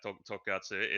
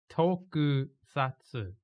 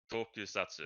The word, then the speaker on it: Tokusatsu: like I still can't pronounce, like Tokatsu is Is the, this Okasami? yeah, this is Is it? my whatever Okizumi moment, but I think it's but Tokusatsu. Tokusatsu. Yeah, there Yeah.